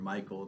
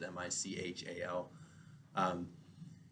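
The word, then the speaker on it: Michal: to marry Saul's daughter call or Michael depend on how you want to pronounce it mich al and she loved him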